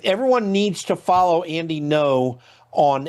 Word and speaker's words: Ngo: Um the next Yeah, by the way, I just shout out people like Andy No, his last name is spelled G Ngo. Andy No is really the guy in Portland who has revealed what Antifa is all about.